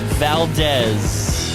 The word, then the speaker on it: Valdes: yeah it's it's tough it sounds like a z but it's spelled with an s so the the harder